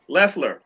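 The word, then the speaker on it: Loeffler: that they are the most or this woman loffler leffler lefler that's the way they pronounce it i mean it's supposed to be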